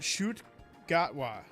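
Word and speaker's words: Ncuti Gatwa: It's pronounced Shoot Gatwa.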